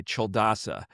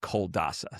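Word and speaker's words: Culadasa: It's called the mind illuminated by Cheldasa. Um but it's spelled like you you would think it's pronounced coldasa.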